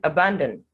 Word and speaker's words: abandon: short sound here then abandon the first a and the o are representing the schwa sound then finally razor razor